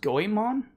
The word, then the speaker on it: Goemon: Um, basically it's pronounced Goyimon.